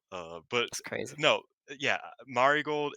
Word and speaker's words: Marigold: I kind of hate Julia specifically said it's pronounced Mari gold and not marold and I'm was like I hate that that's